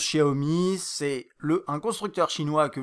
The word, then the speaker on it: Xiaomi: Alors ça se prononce Xiaomi, c'est un constructeur chinois que vous connaissez je pense, ça s'écrit Xiaomi, voilà pour ceux qui se posent la question.